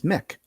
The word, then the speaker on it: Mc: But is it Mac chicken? Is it Mac nuggets? Is it Mac flurry? Is it Mac this or that? No, it's not. It's Mick. Mick nuggets. Mick flurry.